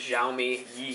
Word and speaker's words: Xiaomi Yi: going to do a quick review of this xiaomi ye camera if you're wondering that's how you pronounce it jiai um so real quick unboxing